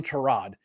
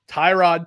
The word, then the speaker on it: Tyrod: the fourth quarter all a sudden they turn it on that two touchdowns from Tyrod I'm not calling him Trod Tyrod Taylor they blocked